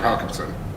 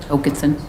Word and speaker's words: Hokinson: now as for officer hackinson Hokinson hackinson why do I always forget Hokinson is it double A is pronounced oh oh sure it's nor I always pronounce it hackinson but he doesn't you said Hokinson earlier